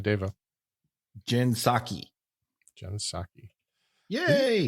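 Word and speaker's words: Psaki: Stephanopoulos Stephanopoulos H Dava Jen saki Jens saki yeah hey it's spelled really bad on my paper it PS a k i yeah I forgot a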